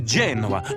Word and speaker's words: Genoa: do you know a salami no no it's genoa emphasis on the j okay gotcha genoa salami olives mushrooms and gooey mozzarella try the